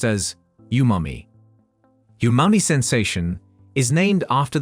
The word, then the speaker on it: umami: sweet sour salty bitter and yumami it is pronounced as yumami yumami sensation is named after the Japanese word